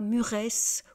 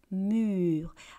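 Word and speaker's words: mûres: Alors encore une fois à la fin de ce mot vous avez e s on dit pas muresse ou murise comme j'ai entendu déjà de la part de certains élèves.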